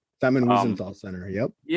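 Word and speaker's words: Wiesenthal: Wezzenthal Center. Simon Weisenthal Center.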